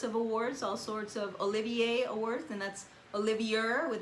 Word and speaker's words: Olivier: It won all sorts of awards, all sorts of Olivier Awards, and that's Olivier with an R at the end, but it's pronounced Olivier.